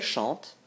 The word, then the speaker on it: chante: Si vous dites il chante ou elle chante, vous ajoutez un E. N'ayez pas peur, pour la prononciation, il n'y a pas de différence. Tout se prononce chante.